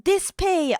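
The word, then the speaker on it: DSPIAE: Oh, it's pronounced dispe. Oh, thank you. Yes, Dispay is the other brand I've heard of.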